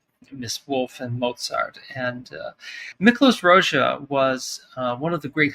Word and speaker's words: Miklós Rózsa: And then also another Hungarian composer, Miklós Rózsa? Is that how you pronounce it?